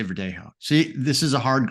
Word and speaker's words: Verdelho: in Portuguese so it's Vero so the LH is like a y sound compared to the Spanish